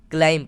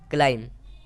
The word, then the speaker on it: climb: अगला वर्ड है CLIMB, तो बी तो हमारा साइलेंट रहेगा और CLIM को हम क्लाइम पढ़ेंगे। क्या पढ़ेंगे? क्लाइम।